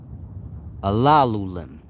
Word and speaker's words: Alulim: That spells Alalim. Some may pronounce it Alalulim.